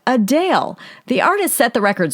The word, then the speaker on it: Adele: grammy-winning singer Adele says she's actually not Adele but a Dale the artist set the